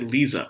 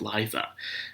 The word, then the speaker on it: Liza: I was about to say Lisa, but no, it's Liza.